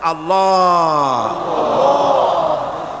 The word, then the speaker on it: আল্লাহ: পাকের নামের উচ্চারণ হচ্ছে আল্লাহ মুখটা একটু গোল হয়ে যাবে বলেন আল্লাহ আল্লাহ সুবহানাল্লাহ পৃথিবীতে বিভিন্ন